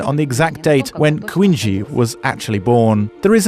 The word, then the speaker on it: Kuindzhi: He is Turkish, according to his last name, as his real last name is Kuindzhi, with the accent on the last syllable.